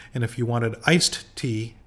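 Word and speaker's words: tè: uh with with their te culture uh but T in Italian is te te uh pronounced as if it was t a y is tea uh so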